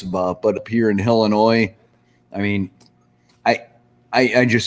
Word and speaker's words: Illinois: maybe once a year can you at least say helen wall helen noir hotel noise because that's how everybody mispronounces it i know and noise illinois yeah so i made it to illinois illinois good grief no one watched rainbows